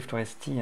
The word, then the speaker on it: Floresti: rouler jusqu'à florest euh ça s'écrit Floresti hein mais ça se prononce florest et euh et finalement